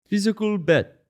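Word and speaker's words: Physical: 100: Physical bet. Physical bet. That's how you say it in Korean, because man, they say it about 1,000,000 times in that show.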